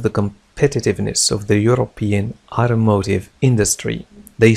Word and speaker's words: automotive: إذن في أمريكا ينطقون ت بطريقة تشبه د. Automotive, automotive, automotive. لاحظوا الشد على إم. Automotive industry, automotive industry. لكن في بريطانيا تنطق automotive, automotive, automotive, automotive. لاحظوا الفرق.